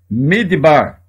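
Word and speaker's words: מדבר: é a última palavra midbar deserto é para que ela tem um acento aqui fazendo com que esta seja a sílaba tônica a primeira sílaba tem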